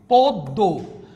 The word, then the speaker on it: পদ্ম: এখানে কি লিখছি, পদ্ম, উচ্চারণ হচ্ছে না। মফলা যদি লাস্টে থাকে, মফলা উচ্চারণ হয় না, তখন দ্বিতীয় উচ্চারণ হচ্ছে, যার সাথে বসবে সে দ্বিতীয় উচ্চারণ হবে, পদ্ম।